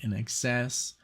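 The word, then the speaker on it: INXS: and now I know how to say it in excess and um like talk talk um Brian Ferry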